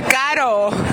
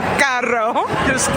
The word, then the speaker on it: caro: Caro. That's the proper way to say it in Spanish. Caro. It sounds like car-o. It does, but it's not carro. Because Spanish for car is auto. Carro tiene doble R.